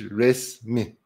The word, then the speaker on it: resmi: So resmi becomes, in spoken Turkish, resmi. So the E sound between the S and the M usually change, is usually dropped in spoken Turkish.